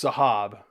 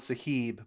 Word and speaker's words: Saheb: King George 6 okay so it's sahab I I I called it sahib but uh it's it's sahab so the intro I apologize for mispronouncing the name sahab okay now we're